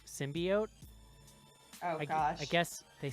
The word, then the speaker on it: symbiote: in case somebody out there was curious its symbiote and that's it and there's no other pronunciations I always pronounced it symbiosis re you're